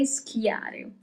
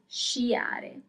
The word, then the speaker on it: sciare: To ski is sciare. Sciare. So do not say schiare, okay, that doesn't exist. That's not Italian. To ski is sciare.